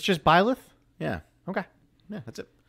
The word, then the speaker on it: Byleth: It's just Byleth?